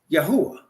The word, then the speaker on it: Yahweh: Now, some people pronounce those four letters Yahuwah. I personally pronounce it Yahweh, but it is in any case not God, and it is not Lord.